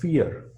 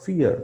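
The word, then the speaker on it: vor: for the v is v is pronounced as f in german so it is swansish for fear swanseas for fear which means 20 minutes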